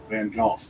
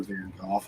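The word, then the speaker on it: Van Gogh: well you know like the way we say van go is wrong it's it's not how he would have pronounced his name it's closer to Van golf although even that's wrong but you know it's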